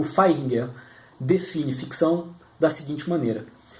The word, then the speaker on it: Vaihinger: Se fala com F, né? Mas se escreve com V. Então seria Vaihinger.